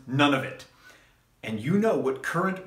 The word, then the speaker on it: Nunavut: So if you happen to work in Nova Scotia, in New Brunswick, in the one that I think is pronounced Nunavut, and you know what current wrestling ring rental rates are, please drop even an average number in the comments down below.